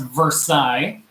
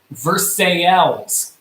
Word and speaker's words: Versailles: like we said, and the way this is pronounced, it is not pronounced Versailles. We're actually just down the road from Versailles. Yeah, we live pretty close to there. Very close to Versailles. Not the one in Kentucky. Not the one in Kentucky. This is the real Versailles. And this city is pronounced Versailles.